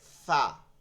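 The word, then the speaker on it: ف: যেটাকে পে বলে কিন্তু আরবির ক্ষেত্রে কোন পে প উচ্চারণ হবে না কোন হরফের মধ্যে কারণ পা নাই পে নাই তো এখানে বলতে হবে ফা এই এইটা এই দাঁত দ্বৈটা এইখানে লাগায় দিবেন এবার বলেন আলিফ হ্যাঁ সবাই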